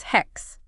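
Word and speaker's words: ἕξ: In ancient Greek, it becomes hex, pronounced with that H at the So it's beginning.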